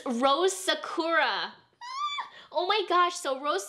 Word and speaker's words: Sakura: So it's Rose Sakura, not Rose Sakura. If you're pronouncing the Japanese pronunciation.